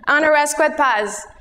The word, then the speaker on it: Anna Rascouët-Paz: it's hard to spell how to pronounce honoresque pass rasquet is the french half my father is a french teacher paz is the colombian side my mom is a